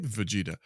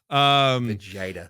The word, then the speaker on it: Vegeta: Vegeta. Vegeta.